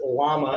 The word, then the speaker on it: llama: to happen to mr yama there and yeah was the shaman no yama's in the animal you know okay i'm sorry yes americans pronounce it llama that makes sense but uh